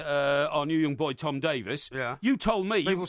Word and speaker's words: Davies: praising me, particularly our new young boy Tom Davies, you told me... People say his correct pronunciation is Davies, by the way, not Davies.